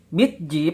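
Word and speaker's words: 믿지: Dikarenakan bacim diget bertemu dengan jiet, konsonan jiet, sehingga konsonan jiet berubah menjadi sang jiet. Mitji pelafalannya menjadi mitji penulisannya pelafalannya menjadi mitji.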